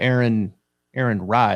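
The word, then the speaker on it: Aaron Rai: Sahith, and then you got Aaron Rye.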